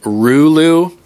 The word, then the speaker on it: Rulu: Still on the Wizmec Rulu. I'm pronouncing it correctly now, Jabo. The Rulu.